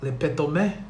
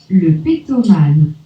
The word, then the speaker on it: Le Pétomane: Our hero was Joseph Puyol, who went by the stage name Le Pétomé. Yes, I did fuck up the pronunciation, but this is really what it is. Le Pétomane.